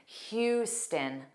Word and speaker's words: Houston: It looks like the beginning spelling of house or how but it's not. It's hu. And then the end sound is unstressed. So it's stin Houston.